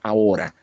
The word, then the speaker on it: ahora: Sugiere una pequeña rima con ahora, sola. Ahora, porque ahora es una palabra grave, ¿verdad? Acento en la penúltima sila, ahora y sola también.